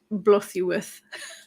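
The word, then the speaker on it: Blodeuwedd: It is a Welsh word, so it is pronounced something like Blothuweth, but spelled Blodgewed.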